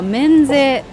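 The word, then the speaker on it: 免税: はい、この漢字は免税と読みます。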